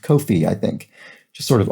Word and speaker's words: Ko-fi: watching on the coffee website that it's actually pronounced kofi i think just sort of odd because it's